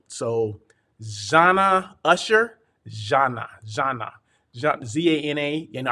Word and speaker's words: Zana: zanna usher zhanna zhanna z-a-n-a you know i always pronounce it zayna but no it's zana zhanna okay so she's